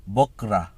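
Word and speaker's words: بكرة: শব্দ হলো কাল অথবা কালকে এটাকে আরবিতে বলে বকরা বকরা ওকে উচ্চারণটা হবে বকরা আমাদের বিপরীত শব্দের একেবারে শেষ দুটো শব্দ হলো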